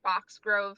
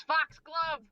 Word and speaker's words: Foxglove: Kate just comes out with his big After hearing Cade say Foxgrove several times, Rosalind just looks over her shoulder and goes, Foxglove! Foxglove! Pronounce it right!